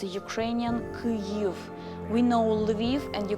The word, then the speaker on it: Lviv: We know Lviv, and you call it correctly Lviv, not a Lvov, which is Russian, but a Lviv. The same goes for Kyiv.